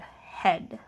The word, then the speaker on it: head: and I'm gonna write the word head and now there's an A in there that we can't hear and then that sound